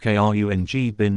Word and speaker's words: Khruangbin: the upcoming Grammy Awards the name minus pronounced KR n g bin minus is Ty for